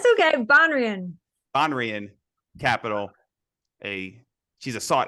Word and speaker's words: Banrion: How do I pronounce That's okay. Banrion.